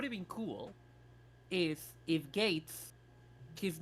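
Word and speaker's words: Geiz: his name was spelled the official spelling is g-e-i-z and his Kamen writer name was Gates as in a gate see I would have accepted that and you can pronounce them the same but the official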